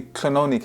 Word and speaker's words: Clonony: And this castle is actually Clonony Castle. Is that the right pronunciation of that?